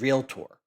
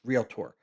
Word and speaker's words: realtor: It's real tour. Just like you're going on a real tour of a property. it's real tour and he's like if